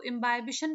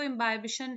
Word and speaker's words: imbibition: देखो, इम्बाइबिशन भी आप बोल सकते हो, इम्बिबिशन भी बोल सकते हो, जैसा भी आपको ठीक लगे प्रोनाउंस करना। वैसे तो इम्बाइबिशन इज बेटर। और क्या प्रोसेस होता है इसको हम समझेंगे प्रॉपर नोट्स के साथ।